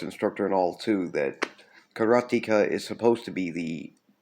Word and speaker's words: Karateka: And well, karateka is how you pronounce it when you're referring to a student of karate.